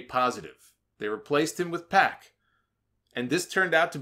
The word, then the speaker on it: Pac: his name I think Jim Ross called him pock his name is pack that's how they pronounce it that's how I pronounce